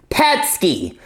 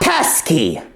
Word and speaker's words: Pesky: the pety robots yes that's how it's pronounced pety not pesky you know uh funny